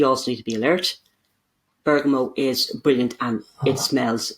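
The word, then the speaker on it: bergamot: I'd recommend would be bergo it's that is spelled with a t b e o g m o t not pronounced with a t Berg I called a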